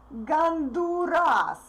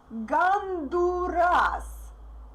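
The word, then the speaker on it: Гондурас: Like the first sound is different and the stressed vowel is different too. Ganduras. Ganduras. I is stressed, therefore unstressed O is pronounced like A. Ganduras.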